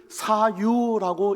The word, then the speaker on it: 사유: 여러 번 말씀드린 건데요, 이 소유를 사유라고 읽으셔야 됩니다.